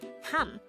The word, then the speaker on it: 합: take note that since this B of character is followed by a neon character this is pronounced as ham instead of H fourth syllable KN is